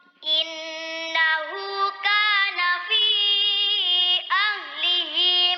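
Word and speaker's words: أَهْلِهِ: Ahlihi ya, haknya panjang satu ayunan.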